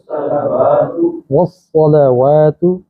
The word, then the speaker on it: والصلوات: التحیات التحیات للہ والصلوات والصلوات صا ذرا موٹا کرنا ہے، والصلوات والطیبات۔ طا ادا